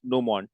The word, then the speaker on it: gnomon: That is called as gnomon. What do we call this? It is called as gnomon. Pronounced as gnomon. G is silent.